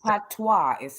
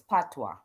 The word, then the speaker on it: patois: to me again and you keep saying patois patwa patwa i say it right you even saying the la the language wrong so it's like that how are you gonna learn the language if you can't even say the right language right that's yeah oh